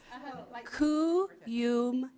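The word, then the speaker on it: Kuyumjian: slow. Kuyumjin, like the drink.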